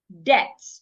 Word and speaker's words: debt: According to a rule, when you have letter B before letter T, most times the letter B becomes silent. Debt.